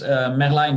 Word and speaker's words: Merlijn: first a little introduction my name is man lying but as you pronounce it in Dutch I'm 28 28 years